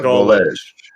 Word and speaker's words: Gulledge: Like 2 words: seagull, gull on the edge of the ocean. Yeah, Gulledge. Yeah, but it's got a little French twing to it, don't it? Gulledge?